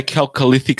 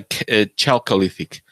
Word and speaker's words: Chalcolithic: I say Chalcolithic, some say Chalcolithic. Both are correct.